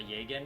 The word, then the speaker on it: Jagen: if I'm called uh a jagan or jagen depending if you want to pronounce the J or not which is basically a